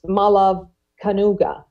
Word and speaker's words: Malav Kanuga: And before we move to our next speaker, I want to correctly pronounce the name of one of the founders of Common Notions, and that is Malav Kanuga.